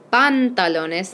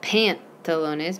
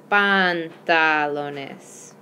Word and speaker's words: pantalones: two pants all right make sure you say bun hollowness not pantalones because every time you see an A in Spanish it's gonna be ah so it's bond hollowness alright then just in